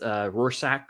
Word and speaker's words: Rorschach: It's Rorschach, one of those 2 pronunciations.